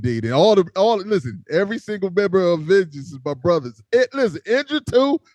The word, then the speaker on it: Vengince: And then I got for the bands Vengeance, but spelled like gin in the middle. So VENGINCE, Vengeance.